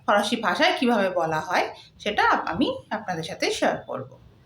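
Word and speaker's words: sept: seven সেথ seven সেট এখানে seven এর spelling হচ্ছে এস ই পিটি কিন্তু পি সাইলেন্ট থাকবে তাই উচ্চারণটি হচ্ছে সেট with eight with nine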